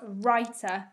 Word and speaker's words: writer: c k l e number four was writer this time in the silent w w r i t e r and number five was